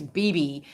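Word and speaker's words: Bebe: There is some other history here because I can't pronounce his name, but it's B-E-B-E. I think it's B-B, Buell, B-U-E-L-L.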